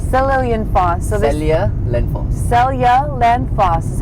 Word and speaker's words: Seljalandsfoss: How do you pronounce it, Sora? Seljalandsfoss. Seljalandsfoss. So Seljalandsfoss. Seljalandsfoss is how you pronounce it.